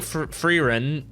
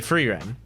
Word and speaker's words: Frieren: End so um I'm I'm saying freerun because uh I I actually looked at the Japanese title for it to see if I could get how to pronounce it based on their pronunciation and it looks like the Japanese title is so no fooden so free Ren um if I'm saying it without a Japanese accent um so I am